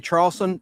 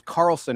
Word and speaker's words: Charlson: I said Leslie Charlson. The H is silent. Her name is Carlson, actually.